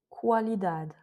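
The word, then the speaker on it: qualidade: C'est quand il y a un A après qual, quaz, quatre, qualidad. Donc là, on prononce bien le U qui a au milieu comme un ou.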